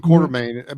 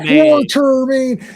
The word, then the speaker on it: Quatermain: quarter, and I'm like, it's not quarter. There's no R there. It's like stop giving it an extra R.